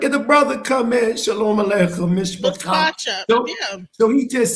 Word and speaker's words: shalom aleichem: It says that in the traditional and literal translation of peace be unto you in Hebrew is shalom aleichem. Shalom, and it's spelled SHALOM ALEICHEM.